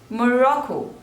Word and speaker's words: Morocco: Mongolia Mongolia next is Morocco again there are three syllables and the stress is on the second one more raw Co Morocco